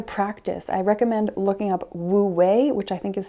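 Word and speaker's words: wu wei: to try to practice I recommend looking up woo way which I think is spelled w u space w-e-i which is the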